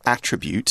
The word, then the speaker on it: attribute: characters I noticed that when we're using attribute as a verb we're pronouncing it differently to the noun attribute right to attribute something